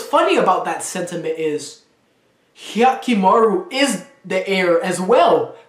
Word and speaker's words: Hyakkimaru: I say Hikamaru, right? Hyakkimaru. Oh, Hyakkimaru. That's not hard. I say it wrong.